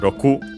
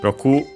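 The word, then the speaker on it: 六: First and foremost, we have of course uh Roku 60 from Roku six Je uh Roku should be accented on the last syllable, but of course we'll check again.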